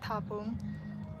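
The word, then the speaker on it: Thapong: There's an H you're gonna pronounce that. Tapon.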